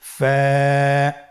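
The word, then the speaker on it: ف: ফা হরফটি উচ্চারণের ক্ষেত্রে বারিক হবে এবং এক আলিফ টেনে পড়তে হবে।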